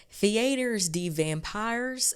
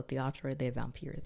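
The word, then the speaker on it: Théâtre des Vampires: because my Southern behind would have been like theaters the vampires and I don't think that that's how it's pronounced so theatro the vampir that's the name of it so what we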